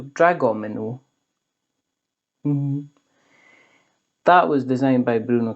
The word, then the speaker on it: Dragomino: butcher the pronunciation, but it doesn't have the Dom thing in it, so it doesn't say Domino, it's Gomino, so Dragomino.